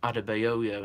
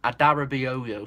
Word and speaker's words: Adarabioyo: pronounced I have trouble I always call him adoyo and it's Aton an extra a in it so it's Adara adarabioyo something like that leave in the comments